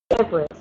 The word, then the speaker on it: debris: Okay, the only one that you didn't pronounce well was debris, with S at the end.